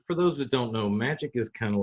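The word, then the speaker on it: Magik: is known as magic it is spelled funny but it's still magic yeah it's go with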